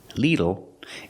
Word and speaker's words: little: tenses to your knowledge the pronunciation is not little by little don't use the long e sound like green beans little it's the short I sound l l little little by little use the short I like this is